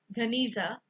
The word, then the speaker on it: Geniza: In 1896, a huge collection of medieval Jewish document was discovered in sealed room, Geniza, pronounced Ganiza, of the Ben Ezra synagogue in Fustat.